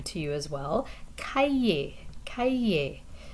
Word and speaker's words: cahier: Cahier, cahier. The H is silent here, so you're really blending together two vowel sounds. So aïe, cahier.